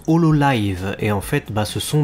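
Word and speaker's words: Hololive: vidéos du smile fest mais ça se prononce au lot live et en fait ce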